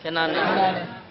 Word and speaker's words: কেনান: ছিলেন নবী কেনানে কোথায় কেনানে কেনান না কেন কেন এটা বক্তারা ভুল উচ্চারণ করে উচ্চারণটা কি কেনান কেনান সেটা ফিলিস্তিন আল